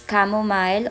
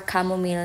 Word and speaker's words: chamomile: So, ayun, para hindi tayo mabash, ginugol ko pa kung paano talaga i-pronounce. So, it's chamomile or chamomile.